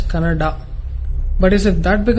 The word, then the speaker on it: Kannada: People from North India should understand that it is pronounced as Kannada.